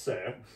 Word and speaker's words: Suhr: Just say sir. Yes, sir. There you go. Yeah. That's a tip for anyone watching. If you can't pronounce it, it's yes, sir.